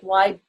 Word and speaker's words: Weibel: My name is Weibel, as in like Weibel, you know, people more. That's how it goes. Even though it's spelled Weibel, it's the whole German pronunciation kind of thing.